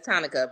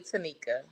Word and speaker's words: Tanika: I said it looks like Monica with a T, so I get why everybody says Tonica, but it's really Tanika.